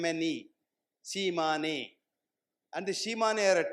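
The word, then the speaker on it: Tsimane: These are it's spelled as T S I A M ne Shiman.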